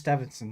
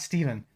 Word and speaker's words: Steveson: It is Steveson. There is no N. It's not Steven. So really? Right. Yeah. I pronounce it like without the N, Steveson.